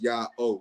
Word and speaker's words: Ya'oh: So the pronunciation we are left with is Ya-O.